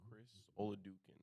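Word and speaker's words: Chris Oladokun: Chris Oladukin. Is that what did I pronounce it right?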